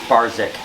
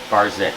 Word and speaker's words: Barczyk: It's Barczyk. Barczyk.